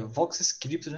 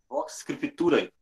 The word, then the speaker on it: Vox Scriptura: do pastor, que é Vox Scripture, né? É assim que se pronuncia, reverendo? Vox Scriptura.